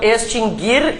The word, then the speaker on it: extinguir: verbos nunca tiveram trema porque o u nunca foi pronunciado mas Há muitas pessoas que pronunciam u né então extinguir e distinguir inclusive todas